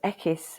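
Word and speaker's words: equis: water polo sandwich the letter X is called echis in Spanish there are two types of English pronunciation it's usually pronounced like the ks in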